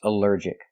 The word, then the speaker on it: allergic: Allergic is three syllables. Allergic. The stress is on the second syllable. Allergic. Allergic. Here the alll is not pronounced all but pronounced uh like in cup and up because it's not stressed. U alert. Allergic.